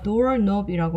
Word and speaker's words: doorknob: 자, 문고리 같은 경우는 a doorknob이라고 하는데 K가 묵음입니다. 묵음.